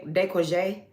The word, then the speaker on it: décolleté: The collarbone, this, the décolleté.